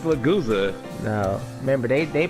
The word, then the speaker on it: Lagusa: And it stars Angelo Lagusta, I believe it's Lagusa. Lagusa. Don't try to correct my pronunciation because you saw it Japanese. It's English. That's how you pronounce it. It's Lagusa.